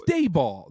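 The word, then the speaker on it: Daboll: Is it Dabble? Is it Daniel Jones? Dayball. It's Dayball. Dayball. Dabble. It's Dayball.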